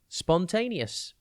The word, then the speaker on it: spontaneous: tv today's word is spontaneous it is pronounced spon tay knee us and it is spelt s p o n t a n e o u s think spon then tan